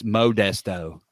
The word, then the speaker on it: Modesto: Everyone knows it's Modesto.